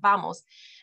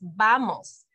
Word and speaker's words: vamos: lip like an English vamos the v in Spanish is actually more like a b it's vamos watch Maestro Viviana say